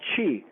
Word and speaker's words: Qi: to write this down is called Chi that's spelled Qi Chi Chi is the life